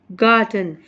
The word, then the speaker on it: garden: Look at the word गार्डन, यू मे not release it बट वी से the first syllable gar with more force than the second syllable den.